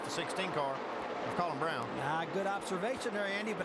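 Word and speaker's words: Braun: it is spelled bra but it is pronounced Brown It's Colin Brown whoa stry trying to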